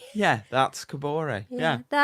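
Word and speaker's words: Kaboré: Uh, I want to write a chant for Camore. Is that how you say it? Am I saying it? Kabor.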